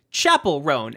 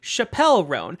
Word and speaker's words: Chappell Roan: didn't know how to pronounce it I initially pronounced it Chapel rone as opposed to Chappelle rone I actually had a video on this channel